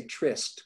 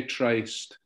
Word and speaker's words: Tryst: I would say tryst, but there is no wrong way to pronounce that word. Some people say tryst.